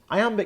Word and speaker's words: iamb: separation meter is all about sound not spelling I Amba can't amateur may sound technical but there's an